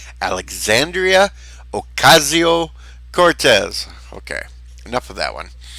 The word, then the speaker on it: Ocasio-Cortez: Yes, Bird, that's how you pronounce it. Alexandria Ocasio-Cortez.